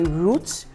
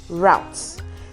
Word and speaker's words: route: pronunciations are correct see yes you can say Roots you can also say routes the only difference is roots is British English okay well routes is American English okay now personally I